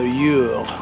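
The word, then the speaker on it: Eure: And now that's L apostrophe. And then it's E-U-R-E, so Ure. Or similar pronunciation.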